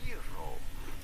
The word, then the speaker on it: gyro: Yi. The G is not pronounced like a G in Greek. Simply say yi and then ro. You do want to roll your R rather strongly. Gyro, gyro, gyro, gyro, gyro dish.